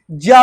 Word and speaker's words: ज्ञा: ऐसे ही जो ज्ञा होते, लोग ज्ञा का उच्चारण करते हैं, जबकि संस्कृत में ज्ञा नहीं ज्या बोला जाता है ना।